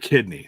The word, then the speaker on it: Kidney: Garrett Kidney, sorry. It rhymes with Sydney.